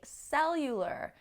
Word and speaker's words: cellular: So the stress is on the end in Spanish, but in the beginning in English.